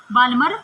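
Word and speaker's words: Balmer: Series, क्या आती है बाल्मर सीरीज। वैसे इसको बाल्मर सीरीज भी बोल सकते हैं, एल साइलेंट होता है यहाँ पे, ठीक है।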